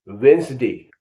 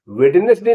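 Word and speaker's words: Wednesday: ए वाई इसको क्या कहेंगे वेनसडे वेडनेसडे नहीं कहेंगे वेनसडे वेस वेनसडे बुधवार अब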